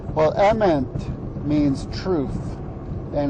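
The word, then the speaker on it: אמת: Tau and it's pronounced Emmett Emmett same as the first name of the main character in the new Lego Movie well Ament means truth and it's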